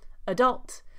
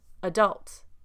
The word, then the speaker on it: adult: Adult. Because the first A is non-stressed, it takes the schwa sound, the unstressed syllable sound. Adult. Adult. Adult.